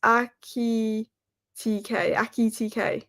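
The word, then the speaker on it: Ekitike: Oh, Alex, to help you pronounce Ekite, it's Aki TK.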